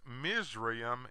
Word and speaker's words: Mizraim: Egyptologists refuse to acknowledge that Egypt is the English name of Ham's second son, whose name is pronounced Mizraim in Hebrew.